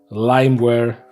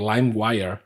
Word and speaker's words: LimeWire: So yeah, and in those programs like, Emule, Kaza, Sheriaza, Limeware, or LimeWire, I guess is the correct way of pronouncing it.